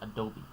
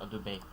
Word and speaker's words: Adobe: And then there's Adobe. Not Adobe.